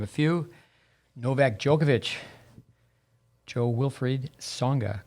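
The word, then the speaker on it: Jo-Wilfried Tsonga: wta players to name a few novak djokovic joe wilfried songa correct my uh pronunciation perfect perfect grigor dimitriov maria sharapova victoria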